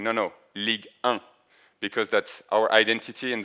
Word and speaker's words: Ligue: Um, one good example is when in the league show uh we have like um a small introduction video and you can see like an international fan saying league one and then someone is saying no no league because that's our identity and that's the way